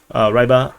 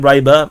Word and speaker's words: Ryba: I like to call them Ryba. I know the actual pronunciation is Ryba. So yeah, that's Russian and Ukrainian way of pronouncing it, but yeah, I'm pronouncing it as English.